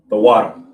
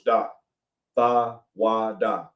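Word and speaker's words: תודה: The water.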